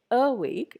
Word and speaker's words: awake: Like it is awake. You don't say awake, it is awake.